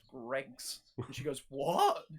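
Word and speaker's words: Greggs: need to go to GR Eggs because it is absolutely awesome. Bloody idiot. Just because of GR Eggs. GR Eggs. Well, another girl hears it and she comes behind. She goes, it's pronounced Greg's.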